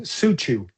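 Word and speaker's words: cuju: Football in China, which is called Suchu, which is spelled C-U-J-U, lasted for a incredibly long period, probably something like 15 to 1800 years, long before modern football was formed.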